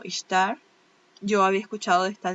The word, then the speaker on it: Ishtar: la diosa istar istar creo que depende de como lo quiera pronunciar la gente yo que no pronuncio nada bien Nada pues pero bueno se escribe y s h t a r ella lo pronuncia como istar yo había escuchado de